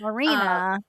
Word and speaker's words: Marina: It's Marina. Like Marina? Oh yeah, my it's gosh. Marina. Uh, Marina. yeah. So Marina, like this, like a sea marina.